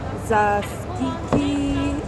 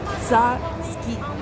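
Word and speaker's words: tzatziki: oil I got myself some zasi if I'm saying it right it's actually Greek yogurt it's called zi if I'm saying it right it's so hard to pronounce this is what it is it's t z a t z i k i Greek yogurt I got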